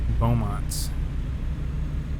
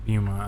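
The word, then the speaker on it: Beaumont: Port of Bowmont. Keep left. Or is it Bumont? I've been probably mispronouncing it. It's probably Bumont. Turn left. It's Bumont.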